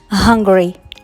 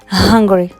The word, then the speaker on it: hungry: Quatrième adjectif is hungry. Hungry. Donc on prononce bien le H.